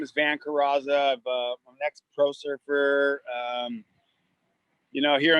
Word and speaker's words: Curaza: Well, it's Curaza, and most people do, so you're not alone.